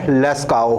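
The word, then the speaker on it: Lascaux: बात कर लेते हैं फ्रांस की एक जगह है लेज़काओ हालांकि आप इसको जब सर्च करेंगे तो फ्रेंच शब्द है तो फ्रेंच में वो होता है की कुछ शब्द जो होते हैं वो साइलेंट होते हैं इसमें भी एक्स लगा हुआ है और बड़ा कुछ है स्पेलिंग थोड़ी उल्टी है इतना कंफर्म राजेश यहां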